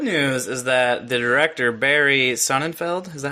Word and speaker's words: Barry Sonnenfeld: The good news is that the director, Barry Sonnenfeld, is that how you pronounce his name?